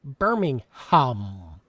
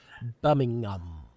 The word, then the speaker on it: Birmingham: He's saying that we add an H where there isn't one and there actually isn't one in the UK pronunciation. It's buming.